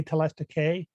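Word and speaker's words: telestikē: Yeah, it would be hey. Again, I kind of use the classical pronunciation, so it'd be hey telestike.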